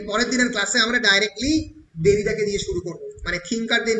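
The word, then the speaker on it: Derrida: উচ্চারণগুলো মাথায় রাখবে, ফ্রেঞ্চে ডয়ের উচ্চারণ হয় না, ফলে ডেরিডা নয়, অনেকে ডেরিডা বলে, ইট ইজ দেরিদা।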